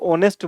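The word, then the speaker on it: honest: वह चेक करना है ऑनेस्ट का साउंड अपन देखें तो यह एच साइलेंट है और ऑनेस्ट बोल रहा है यानी ओ से साउंड कर रहा है आर्टिकल क्या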